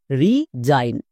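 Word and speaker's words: resign: এবার একসঙ্গে উচ্চারণ করো। রিজাইন রিজাইন চলো তাহলে আরো কয়েকটি ওয়ার্ড দেখে নিই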